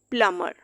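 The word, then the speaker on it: plumber: टॉम, थम, प्लम्बर।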